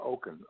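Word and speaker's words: Okun: say Barbara's last name correctly what is the pronunciation of her last name that's fine it's Barbara Oaken okay you and Barbara Oak okay Oak yeah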